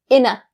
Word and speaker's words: in a: So, in a rush, the pronunciation point that you need to keep in mind is inna. It's said like one word.